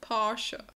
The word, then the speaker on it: Porsche: Porsche but apparently the the company even made a video as to how pronounce this a while back PA posha posha posha posha I think in